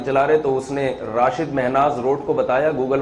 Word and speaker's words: راشد: ہمارے قومی ہیرو تھے, ان کے والد نے ان کا نام راشد رکھا تھا, رشید نہیں رکھا تھا. تو زبان کے اختلاف سے نا تھوڑا سا تلفظ میں فرق آ جاتا ہے.